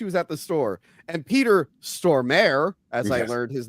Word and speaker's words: Peter Stormare: And Peter Stormare, as I learned his name is pronounced while Crystal was, uh, out of the room.